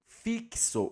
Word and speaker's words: fixo: Porque quando nós pronunciamos fixo, o o X aqui, ele tem o som do K.